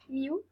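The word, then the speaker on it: miw: Les Égyptiens nommaient le chat miaou, dans sa prononciation miou. Cela s'écrivait M-I-W au masculin et M-I-W-T au féminin.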